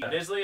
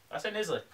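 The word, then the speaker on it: Knisley: have Displacement by Lucy Nisley, is how we're gonna say we pronounce it, because it has a KN, so that's like knife. I say Nisley.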